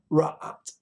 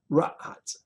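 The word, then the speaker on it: צָרַעַת: Zarata. Ra'at. Got to have the accent on the second syllable. Very unusual for Hebrew to have it on the second syllable instead of the last syllable. Ra'at.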